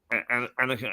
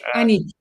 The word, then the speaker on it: Aniek: Annika, is that the way I pronounce it, Annika? Aniek. Annie is good enough, is it? Aniek. It's with a K at the end.